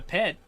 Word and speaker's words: PET: Yeah, also, I'm saying pet now, because apparently that's how you're supposed to pronounce it. It sounds so off, weird to me, but it's pet, it's not P-E-T.